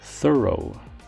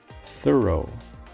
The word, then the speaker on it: thorough: in a detailed manner its pronunciation is often confused with that of through but the proper pronunciation is thorough thorough for example the detective